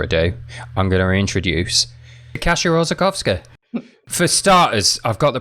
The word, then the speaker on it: Kasia Orzechowska: Do you want to pronounce it correctly, just so I can do better next time? Kasia Orzechowska.